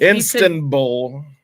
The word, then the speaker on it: Istanbul: The N in Istanbul, I was not pronouncing enough.